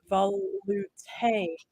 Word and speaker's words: velouté: And Randy says it's pronounced velouté.